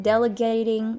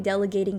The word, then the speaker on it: delegating: I have a hard time delegating tasks. So, I do not pronounce the D & T correctly. Excellent. Excellent. A D sound, press your tongue, against your upper gums, stop the airflow very very details Oh that's how I say it.